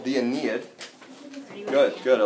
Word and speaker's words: Aeneid: Oh, this is called the Aeneid. Good. I like how you're taking notes here. So, Aeneid is spelled A-E.